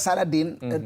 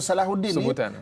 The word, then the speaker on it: Salahuddin: Sebenarnya perkataan Saladin bahasa Arab, dalam bahasa Arab cara pronunciation nama Salahuddin sebutan ha kan dalam.